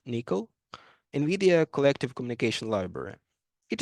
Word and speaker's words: NCCL: Third high-level communication technology from NVIDIA is NCCL, pronounced Nickel, NVIDIA Collective Communication Library.